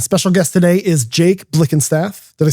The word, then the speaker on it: Blickenstaff: I'm attorney Jerry Paresi and special guest today is Jake Blick and Staff.